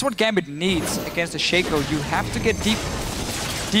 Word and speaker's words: Shaco: It's pronounced Shaco, not Shaco.